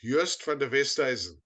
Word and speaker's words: Joost van der Westhuizen: So he pointed at the program, and I said, "It's Joost van der Westhuizen."